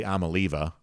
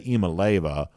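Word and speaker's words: Iamaleava: So at one point in time, I used to say Amaleva, which I think turned out to be wrong. Now I say Imaleva, which may still be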